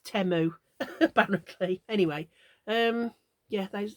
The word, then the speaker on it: Temu: I'd been calling it Teemu but they pronounce it temu like temper or temperature like e rather than e so it's temo apparently anyway um yeah